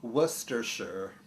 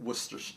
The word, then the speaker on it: Worcestershire: People don't know how to pronounce it, but it's pronounced Worcestershire, not Worcestershire. You know, like you don't pronounce the first R and you don't pronounce it Shire, like New Hampshire, not New Hampshire.